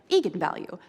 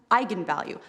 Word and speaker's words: eigenvalue: that i wasn't quite sure on how to pronounce it looked to me like eagan value so right i mean i think that's what